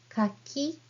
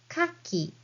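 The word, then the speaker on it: 柿: please read hi K kak can mean either pons or khaki oyster depending on the pronunciation so Kaki for pans Kaki for oysters both are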